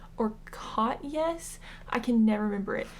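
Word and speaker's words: Katjes: And I looked it up and Jes is supposed to be pronounced as Yes. And I think it's either cat Yes or C. Yes.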